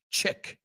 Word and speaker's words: chic: Chic. And the other one is shh. It's SH. Chic. Chic.